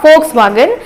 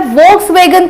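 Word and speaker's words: Volkswagen: किया जाता है, इसलिए इसका सही प्रोनाउंसिएशन होगा फोक्सवैगन या फोक्सवैगन।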